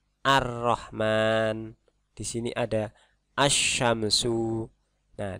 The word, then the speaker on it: ar-Rahman: Ada alif lam ketemu huruf ro, maka dibacanya bukan al-Rahman tapi ar-Rahman.